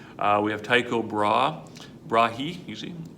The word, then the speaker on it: Tycho Brahe: All right, we have Tycho Brahe, usually pronounced.